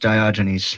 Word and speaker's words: Diogenes: I just thought Malcolm, since he's black, and By the way, for the people that don't know, it's pronounced Diogenes.